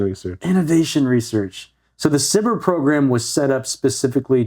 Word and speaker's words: SBIR: that's a Mac okay sbir saber cber that is spelled out SB would be so terrible if you had to say that all the time SBI no it's cber cber okay yeah uh small